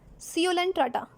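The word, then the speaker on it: Coelenterata: होता है पर नेक्स्ट सीलन टाटा सी यू टाटा कोई बच्चों हम डाल दिया कहते हैं यहां पर ध्यान रखिएगा सी आपका साइलेंट होता है इन इडलियां दादा एनिमल्स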